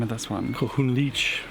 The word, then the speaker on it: Kohunlich: Kohunlich. Kohunlich. Which is not as Mayan. It's an English word and a mispronunciation of an English word.